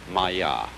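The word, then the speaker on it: māyā: And in Indian philosophy, the fundamental word for this kind of thing is the Sanskrit term Maya. I'm going to write that down for you. Pronounced Maya.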